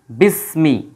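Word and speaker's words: بِسْمِ: ইসমুন যখন একত্র হবে তখন আর হামজাতুল ওয়াসালের উচ্চারণটা হবে না এই যে যে হামজাটা আছে তখন এর উচ্চারণ হবে না একসাথে চলে আসবে বিস বিসমি এইটা একসাথে চলে আসবে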